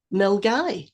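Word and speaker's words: Milngavie: know mil gab wait wait say it again mil guy mil guy yes and uh often people will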